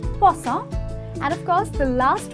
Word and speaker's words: croissant: there is croissant ok not kraw-sant its kaw-sant and of course the